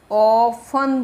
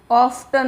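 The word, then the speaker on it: often: English में बोलेंगे ऑन पर इसको ऑन बोलेंगे ऑफ्टन नहीं बोले ऑफ टन नहीं है टी है ना टी का प्रोना साइलेंट है अक्सर में लाइब्रेरी जाता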